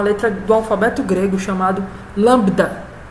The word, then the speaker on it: lambda: É uma letra do alfabeto grego chamado lambda. Não é lambida, tá certo? Não tem o I de lambida, é só lambda. O B é mudo.